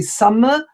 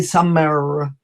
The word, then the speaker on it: summer: to hear it so it's better to say summer then to say some error another letter which is